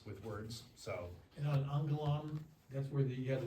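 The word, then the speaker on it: ἄγγελον: when two gammas are together, you get that N sound, Yeah. angellum.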